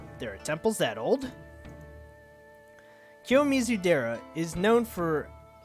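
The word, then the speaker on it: 清水寺: This is the Kiyomitsu Dora. No wait. Kiyomitsu Dora. Dora. Why am I thinking Dora? Kiyomizu Dera.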